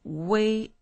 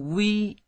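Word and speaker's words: wei: It's way, it's not we, because so many people mispronounce it.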